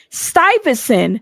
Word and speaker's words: Stuyvesant: Stuyvesant.